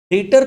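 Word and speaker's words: debtor: वो ऑफिस क्या है डेटर है डेप्टर बी है लेकिन बी साइलेंट होता है बोलते समय डेटर बोला जाता है डी ई बी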